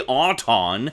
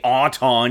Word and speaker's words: Auton: It's clearly Auton. They say Auton in the show.